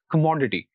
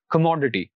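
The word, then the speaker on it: commodity: और उसके बाद मो, तो जो आखिर से तीसरा सिलेबल हुआ वो मो होगा और जो स्ट्रेस होगा वो इस सिलेबल पर आएगा, तो it will be pronounced like this, कमोडिटी, कमोडिटी।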